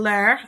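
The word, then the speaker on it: leurs: forms there's ler and ler they're pronounced the same only difference is that one has an s so if it's plural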